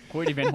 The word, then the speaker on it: Hoyte van Hoytema: Hoity Van Hoytema. Yeah, right, exactly. So I looked it up too on how to pronounce it because I can't pronounce words worth